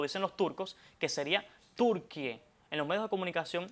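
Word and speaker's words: Türkiye: Bueno, decirlo lo más cercano posible, como lo dicen los turcos, que sería Turquie y no turquille. Entonces, Turquie, Turquie sería la forma e más cercana, ¿cómo lo pronunciarían los turcos?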